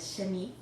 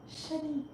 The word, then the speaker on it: Shanique: I know, like 2 seconds ago I told you it was just Shanique. So I have to tell them, my name is Shanique. It rhymes with antique and unique. Shanique.